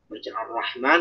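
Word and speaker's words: الرحمن: Ya, jadi misalnya kayak di Al-Fatihah saja, misalnya kita tidak membaca Ar-Rahman, tapi bacanya Ar-Rahman, bukan Ar-Rahman. Rohnya tidak tasydid. Itu kan mengurangi satu roh.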